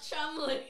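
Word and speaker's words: Cholmondeley: with you just of Chumley of Chumley now it's not spelled like how it's I said it but it's Chum allegedly that's how it's said allegedly that's how it's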